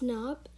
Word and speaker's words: knob: word we have is knob and you pronounce it as n-o-b knob not k-n-o-b which is knob and that is wrong okay next we have